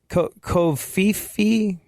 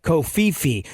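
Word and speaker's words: covfefe: Kofifi? I pronounced, like I said, Kofif the other day, and someone was like, it's actually Kofifi.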